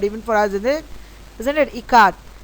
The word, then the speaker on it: Ikat: Ikat. Janki teacher said it is pronounced I as in Ka and as in Kamala and T as Th in both.